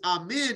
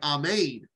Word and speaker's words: amen: hello uh amen were you in your prayers amen is it uh actually pronunciation is not correct it's more like Ahmed which is Hebrew the actual Hebrew pronunciation for